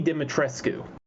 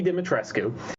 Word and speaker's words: Dimitrescu: name is let me see if i can pronounce this right lady dimitrescu okay lady dimitrescu is her name and she's about eight and